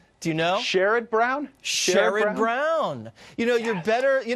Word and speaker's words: Sherrod: Sherrod Brown.